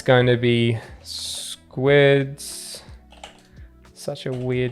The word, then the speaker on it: Sqids: It's pronounced squids, but it's SQIDs.